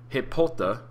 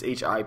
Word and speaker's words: Hippolyta: So during this battle, Wonder Woman's mother, who I have the hardest time saying her name, Hippolyta, I think that's how you say it, it's Hippolya, she gets stabbed by a corrupt Amazonian named